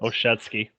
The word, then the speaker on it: Olszewski: Olszewski. That's how you say it.